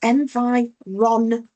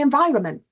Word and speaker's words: environment: They missed the N because often when we say those words out loud, we don't pronounce it. Say environment, government, we don't pronounce that N, but it's there.